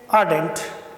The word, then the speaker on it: ardent: It is the rule of the English that when a ra is followed by consonant sound, so it is not pronounced. So you should not pronounce here ra, but you should just pronounce it ardent.